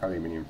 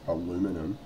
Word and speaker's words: aluminium: But the reason why I said about the foil, the like aluminium foil, or as the Americans incorrectly pronounce it, aluminum.